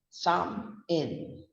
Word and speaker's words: salmon: So we don't say salmon. It's a sam and a in. So we pronounce it as a salmon, sam in.